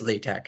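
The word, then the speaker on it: LaTeX: to use latch now what is latek and why is it pronounced so strangely uh well latc is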